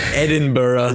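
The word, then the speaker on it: Edinburgh: Friar's kirkyard in Ed Edinburg Scotland or the Scots pronounce it Edinburough thank you oh my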